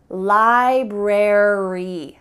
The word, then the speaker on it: library: well in this case ary at the end of words is gonna indicate that in American English we're gonna pronounce the full word library secretary military do you